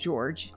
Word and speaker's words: Jorge: person is the deceased George I already told you it sounds like George it's spelled like Jorge Torres who was also